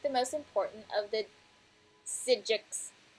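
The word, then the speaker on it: Psijic: I want to say Disijics, because it still looks like a D to me, but I'm pretty sure it's a P, and I'm pretty sure that P is silent. P for pterodactyl.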